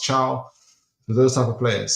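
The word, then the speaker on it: Thiaw: It'll probably be between Gehi, Chow, or Malik Thao, as you guys know him, but his surname is pronounced Chow.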